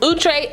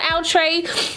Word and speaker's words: Outre: So like I said, this unit comes to us from OOTRAY. I asked them, that's how you pronounce it. It's OOTRAY, not OUTRAY.